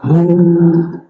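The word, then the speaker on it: هو: aja Allahu la ilahailla hu ya Hu bacanya hu jangan Hua kecuali disambung panjang enggak huya lailahaillu pakai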